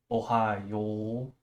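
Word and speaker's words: おはよう: because it's confusing just just know this is pronounced Ohio okay so just like the state of Ohio which we all know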